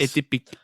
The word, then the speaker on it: Atypique: Atypique, yes. Atypique. Yeah. I got that name right in front of me, and I still can't pronounce it. Yeah, you got to French it up.